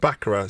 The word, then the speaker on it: Baccara: Baccarat. Sorry, I'm a lady. I think I said. Was that right? Yeah, well done. Baccarat. Sorry, I'm a lady is the next song. Sorry, I'm a lady by Baccarat.